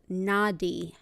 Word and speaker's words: nadi: The energy pathways throughout the body, called nadi, or spelled in English and kind of translated phonetically, is N-A-D-I.